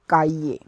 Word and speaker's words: cahier: So to notebook we say cahier, C-A-H-I-E-R, cahier.